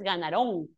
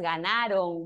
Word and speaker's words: ganaron: Si es aguda, sí, pero si es grave, no, no dices ganarón, dices ganaron. Grave que termina en n o vocal, no se tilda.